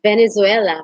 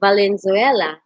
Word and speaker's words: Valenzuela: meiji uh as miss venezuela my goodness instead of saying valenzuela she pronounced or uh she read the word valenzuela into venezuela but it's somewhat cute